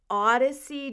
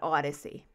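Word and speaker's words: Audyssie: by an actor named odyssey james coming like a mash-up between audrey and odyssey because it's a u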